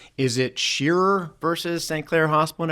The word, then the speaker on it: Pschirer: with the theme of butchering names, is it Pschirer versus St. Clair Hospital and everybody? It's Pschirer.